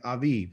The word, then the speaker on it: Aviv: a hebrew word call aviv okay aviv it's pronounced with a v sound instead of a b sound but this is how